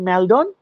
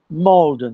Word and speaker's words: Maldon: লেখা থাকে ম্যালডন, কিন্তু উচ্চারণ হয় মলডন.